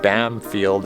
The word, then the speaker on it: Bamfield: first nations people of the area just kept pronouncing it bam field instead of banfield and it just stuck fun